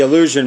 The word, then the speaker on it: Eleusinian: The Eleusinian, or Eleusinian, it's the Eleusinian mysteries, or mysteries of Eleusis. Always pronouncing that wrong. But it's Eleusinian.